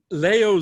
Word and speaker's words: Leo: Szilard, and Leo, not Leo. Leo is how he said it.